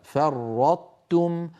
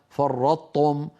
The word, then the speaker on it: فرطتم: ما فرطتم في يوسف فنطبق على طاء ثم نحول الى تاء فرطتم ولا نقول كما نسمع من بعض اخواننا فرطتم اذا قلنا فرطتم صار النطق بطاء مشدده وهذا لا تفعله العرب ابدا كذلك في سوره الزمر